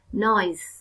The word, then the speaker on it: noise: Và đây có một lưu ý, vần SE các con đọc là Z. Noise.